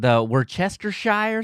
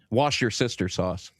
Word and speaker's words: Worcestershire: We did steal the Worcestershire sauce from you. How do you say that? Worcester. Wash your sister sauce. Wow. Wow. Worcestershire. That's how we say it here, anyway.